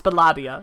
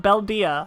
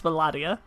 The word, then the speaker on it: Belladia: That's how you pronounce it. It's Belladia. It's not Beldia, as I always want to say. It's Belladia.